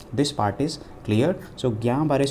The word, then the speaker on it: Guillain-Barré: part is clear so gambare syndrome this is a GBS L is silent over here affects the nerves in